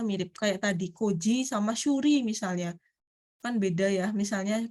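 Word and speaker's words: 修理: Cukup pakai ini apa nih bacanya? Shuri.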